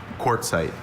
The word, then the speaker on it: quartzite: Quartzite.